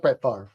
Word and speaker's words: Brett Favre: really how it's pronounced matter is right it's pronounced Prett fa but that's how it's spelled well that's wrong